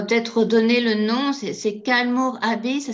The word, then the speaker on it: Kylemore: C'est Kalmor Abbey. Ça s'écrit Ouais.